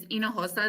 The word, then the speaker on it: Hinojosa: The correct pronunciation is Hinojosa. The H is silent. Hinojosa. Hinojosa without an H.